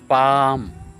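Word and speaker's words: palm: sound is a a pal pal p a l m here L is silent and a is sounded as ah ah pal pal the long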